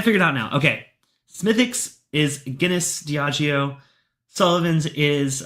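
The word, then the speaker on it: Smithwick's: Okay, Smithix is Guinness Dagio. Sullivan's is um Kill Kenny Brood. Got it. All right, let's go and nose the Smithix. I'm going to say Smithwix. I'm sorry. Smithix.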